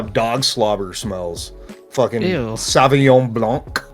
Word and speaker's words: Sauvignon Blanc: No, it's Sauvignon Blanky, dude. Yeah. Is that Matt LeBlanc's brother? Yeah. Sauvignon Blanc.